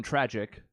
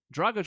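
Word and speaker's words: Dragić: all remember going tragic which isn't even how you say his name but still I mean it rhymed sort of it looked the same as far as the words go and if anything dragush was in his own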